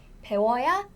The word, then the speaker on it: 배워야: So the original form was 배우어야 한다. But Korean people speak fast and Korean people want to pronounce easily. So we pronounce this faster. 워. 워. So it become 워. So it become 배워야 하다.